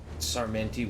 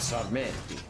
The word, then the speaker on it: Sarmenti: They are not happy with Sarmenti. He's French, but you have to pronounce his name in an Italian accent.